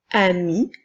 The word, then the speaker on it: amie: a la lettre E j'ai ajouté cependant une petite ligne comme sa pointillée pour te rappeler qu'il ne faut pas la prononcer alors nous ne verrons pas amis eux mais bien ami nous avons deux mots